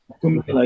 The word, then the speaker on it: Kumbh Mela: But now we've got, just recently in India, we had that situation where, is it Kumbh Mela? Is that the pronunciation of yes. Kumbh Mela?